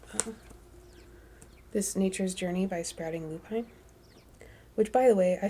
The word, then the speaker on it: Sprouting Lupine: video from cat and she called her own business sprouting Lupine and I had been calling it sprouting loopin so I was wrong I'm sure Cat knows how to say her own business name so um my apologies if I led you astray by saying it wrong sprouting Lupine cat Nature's